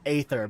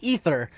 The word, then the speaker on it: Aether: So that's why I've always said Aether, but these guys always say Ether. So it's like, which is the fucking correct way? The A is silent.